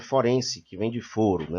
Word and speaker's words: forense: judicial relativa aos tribunais é muito comum as pessoas confundirem pronunciarem florence que vende florença na realidade correta forense que vem de forno